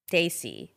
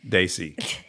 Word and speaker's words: desi: and it was a gathering of daay people Daisy see I that's right I said it right okay Daisy yeah okay oh no now you said it